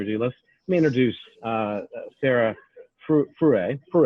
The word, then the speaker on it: Fruy: So anyway, without further ado, let me introduce Sarah Fruy, right? Fruy. Fruy, like rhymes with Louis.